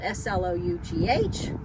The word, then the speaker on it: slough: this is what we call the slough, spelled S-L-O-U-G-H, but it's pronounced slough.